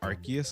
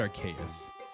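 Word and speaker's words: Arceus: I think I used to say Archus a lot. I never said Archaeus, even though I guess based off how it's spelled, it it should be pronounced the Greek way because I know that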